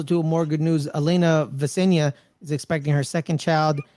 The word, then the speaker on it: Vesnina: Elena Vesenia is expecting her second child, having had a daughter. Vesnina. That's what You I said. said Vesnina. it right before the show. You No, said it is Vesenia.